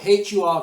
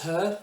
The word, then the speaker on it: HUR: On the video, a Russian-speaking Ukrainian soldier, HUR, H-U-R, guys. If you're, you know, I know Russell Brand says her, it's not, it's HUR. So that's how you pronounce it, guys, HUR.